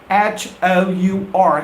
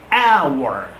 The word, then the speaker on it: hour: the sound of edgier It's Always silent and it's not our remember the right pronunciation is our hour hour please repeat after